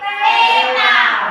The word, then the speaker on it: theta: Aku membacanya adalah theta. Ya, betul. Theta, bukan D, bukan kosong ya.